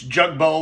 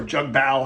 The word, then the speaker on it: Jugbow: out to me it's it's Jugo or jug Bal however you want to pronounce it um and they